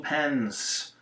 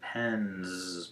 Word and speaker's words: pens: Then we'll tell our class, 2 pens, when it should be pens, because N is voiced, so we make it a Z sound.